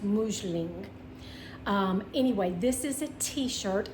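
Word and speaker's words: Musling: It is spelled M-U-S-L-I-N-G, but it's pronounced Mousseline.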